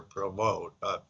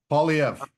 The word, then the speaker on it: Poilievre: I'd like to hear your opinion of the Conservative Party leader, Pierre Provost. I'll mispronounce his name. Poilievre.